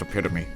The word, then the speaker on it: epitome: she's the epitome of Knighthood it's pronounced it's pronounced epitome just for shut up I don't know shut